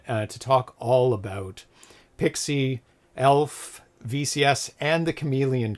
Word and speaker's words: PXE: So, I would like to welcome Zachary Scalero, Zack Attack from Phantom Logic Studios, creator of P Pixie, PXE, pronounced Pixie, and Chameleon Cart and developer of games such as Mattress Monkeys, Octopusher, and Elfen Squirrel.